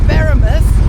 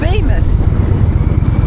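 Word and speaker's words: Beaumaris: But it's not Baramus, or not Bowman. It's Bemis.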